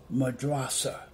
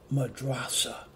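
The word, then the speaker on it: madrassah: I believe that's how you pronounce it it's pronounced madrasa and you spell it m a d r a SS a h and it's pronounce madrasa and madrasa in Arabic will translate into the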